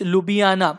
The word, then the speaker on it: Ljubljana: So the capital of Slovenia is Ljubljana.